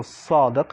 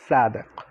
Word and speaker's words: Sadiq: So the first letter is basically similar to an S, but more like a heavy S when you pronounce it. So Sadiq, not Sadiq.